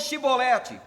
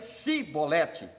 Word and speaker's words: chibolete: Olha lá, diz assim, então lhe diziam, dize pois chibolete, porém ele dizia cibolete, porque o não podia pronunciar assim bem, não podia pronunciar, não é por causa da palavra, que significa a palavra, né?